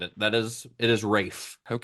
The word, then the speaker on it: Ralph: That is It is Rafe.